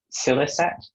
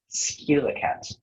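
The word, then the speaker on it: scilicet: Yes, there are two. Silicet, silicet, skilicat.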